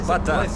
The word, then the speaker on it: бата: Пожалуйста, произноси правильно. Это не бата, это бата.